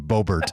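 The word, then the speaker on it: Boebert: pronunciation of her name bobert is how uh i think she pronounced it but i just like doing the full bear like stephen colbert colbert yeah um that marjorie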